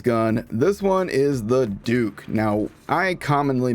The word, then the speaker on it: Duc: this one is the Duke now I commonly mispronounced this as the duck since its D you see and I don't know why but in my mind that sounds like duck but this Jacob is